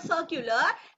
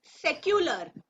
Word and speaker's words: secular: It's not circular, it's secular.